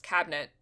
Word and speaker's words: cabinet: You kind of just forget the middle vowel. It's just cabinet. Yeah. No, I don't. That's correct. Cabinet. In American English, cabinet has two syllables.